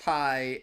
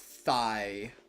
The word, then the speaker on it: Tai: Why is it pronounced Thai and not Thigh?